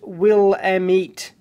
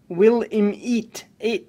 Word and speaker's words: Willamette: Since we're sticklers for pronunciation here, the river is pronounced Willamette, not Willamette. God.